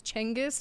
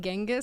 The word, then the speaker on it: Genghis: Apparently, it's Chengiz, not Genghis. So I've been saying it wrong my whole life.